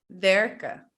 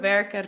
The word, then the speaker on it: werken: When we speak at a normal speed and with other native speakers, we don't pronounce the N and the E sounds like a. So we say lopen, eten, werken, mannen, pennen, rennen.